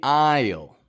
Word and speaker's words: aisle: the plane is the aisle this is another word that has one of those y sounds one of those y Glides that you wouldn't catch if you didn't know it were there you might say or